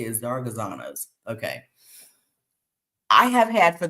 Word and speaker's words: Zaragozanos: Oh, that's how you say it, Zaragozanos.